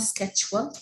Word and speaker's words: schedule: yanni jet work okay it's not scheduled it's a schedule it's a j sound on it all right